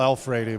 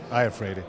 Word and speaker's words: Iafrate: Okay, A lot of people say Al Alfredi, but it's Iafrate.